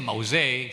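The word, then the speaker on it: מעוז: word mauz o Mau mause pronunciation mause sa po yan po ang pronunciation sa Hebrew word mause ang ibig sabihin po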